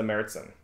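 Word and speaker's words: Märzen: one of them is a merzin this is the meritsen uh that's also how to craft for your channel pronounced it oh it's darker yeah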